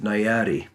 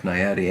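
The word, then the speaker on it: Nyati: in I forget which state had a 585 nayadi and for those of you that don't know that cartridge that's spelled n-y-a-t-i-585 nayadi and he used an infield action these actions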